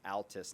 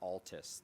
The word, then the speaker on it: Altus: And for those of you who are going to Altus, it's pronounced Altus, not Altus.